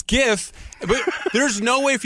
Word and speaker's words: GIF: god no way cuz it looks like it's gif but it's a jiff it's called a jiff the found ideas say that cuz the founder right founder says it's Jeff screw you buddy it's gif but there's no way